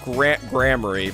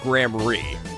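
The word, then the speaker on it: Gramarye: So anyway, I think it's pronounced Grammary. Although it says fucking rye, all right?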